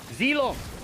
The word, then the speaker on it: Zilong: No, I'm not saying ZA, I'm saying Xylong. So Z-I. It might be my pronunciation that makes it sound like Xy, but it's a Xylong. Xylong. Zilong. Okay, there you go. I'll pronounce it that way.